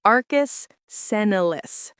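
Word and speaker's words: arcus senilis: It's called Arcus Senelis, pronounced Arcus Senolis.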